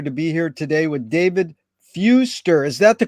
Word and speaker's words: Fewster: and a pleasure to be here today with David Fuster is that the correct way to pronounce it yes where in the heck you